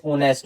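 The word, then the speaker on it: honest: ही इज़ a dash ऑनेस्ट। ये क्या बोलेंगे इसको? ऑनेस्ट बोलेंगे। एस साइलेंट होता है। तो ओ की साउंड आएगी।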